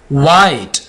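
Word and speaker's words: white: उसके बाद वाई, एच से पहले क्या आ गया? डब्ल्यू आ गया, वाई, वाइट। एच से पहले डब्ल्यू आ गया तो हमने एच को साइलेंट रख दिया। विस्पर, विस्पर, विच, एच से पहले डब्ल्यू आ गया।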